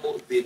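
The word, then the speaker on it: المؤذين: Karena sebagian tulisan itu tulisannya mu'dhiin, ditekan ada ya dua. Memang asli tulisannya mu'dhiin. Cuman bacanya mu'dhin itu litakhfif namanya, untuk meringankan bacaan.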